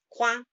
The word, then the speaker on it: coin: But generally, traditionally, it's coin, coin, coin, which is a nasal sound at the end again.